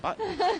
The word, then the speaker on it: button: I always say button, like mutton.